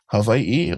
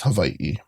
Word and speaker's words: Hawaii: And you can, you know, people say it like with a V, Havi, or people even say Hawaii. Either or works. And even my mom, she goes Havi. So, it's there's many different pronunciations. Then I'm not saying it which one is right or wrong, but the way I would say it is Hawaii.